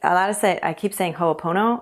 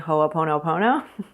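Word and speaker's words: Hoʻoponopono: will use Hooponopono to, I keep saying Hoopono, and I want to make sure I'm saying Hooponopono, but that's how you pronounce it, by the way.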